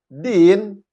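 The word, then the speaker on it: دِين: Din, dalnya kasroh. Kemudian ya-nya sukun.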